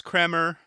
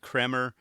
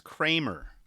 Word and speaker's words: Kremer: I swear I said Kremer on a previous episode. It's still hard for me to say that. And everyone thinks it's Kramer, like as in Seinfeld.